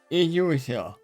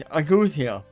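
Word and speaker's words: ageusia: Oh, it's Agousia. Accuse you. The E is not there in pronunciation. Accuse you.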